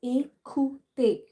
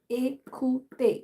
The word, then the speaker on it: écouter: As I've told you here, E and accent aigu on E will produce the A sound, the long A sound in English. So that would be pronounced as écouter, écouter, which means to listen, right?